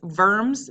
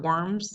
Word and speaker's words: Worms: concord concordate of worms it's verbs not worms has nothing to do with slimy things on the ground it's verbs because it's german so in german w's are pronounced like bees and then you are